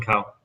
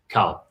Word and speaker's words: Cowell: America's Got Talent, and then you've got Simon Cowell or Powell? Simon Cowell. Cowell. I always get his name wrong.